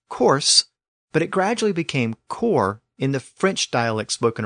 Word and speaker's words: corps: words like corpse c r PS e and core c r PS both words are still spelled with an S but the pronunciation of the